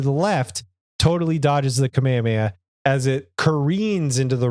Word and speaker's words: Kamehameha: and says uh you said it wrong it's Kamehameha you huh as if like